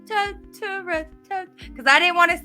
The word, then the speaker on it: Totoro: Now one movie that I wanted to talk about was My Neighbor Tora. And I did not get a chance to watch that. And I said it wrong again. My Neighbor Totoro.